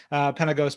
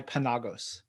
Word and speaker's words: Penagos: My sister actually says Penagos, but I go by Penagos.